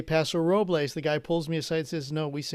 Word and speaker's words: Paso Robles: radio station up in paso robles okay i get on the air and i do the top of the hour id and i say paso robles the guy pulls me